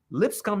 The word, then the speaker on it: Lipscomb: real school school George Lipscomb it sounds just like lips come and he plays for that school and they yeah Lipscomb University that's how it's